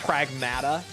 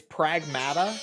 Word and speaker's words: Pragmata: that Capcom posted that it is actually pronounced Pragmata and it sounds wrong, but like that's how they're saying it in game apparently. It's Pragmata.